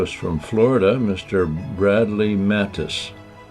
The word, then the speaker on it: Mattes: Bradley Mattis. Do I say your name correctly? You did. You get a gold star cuz many do not.